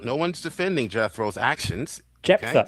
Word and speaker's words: Jephthah: Jephthah. Okay? It's not So Jethro. Oi. If you're going to call in quibbling about my use of the text, get his fucking name right. It's not Jethro. It's Jephthah.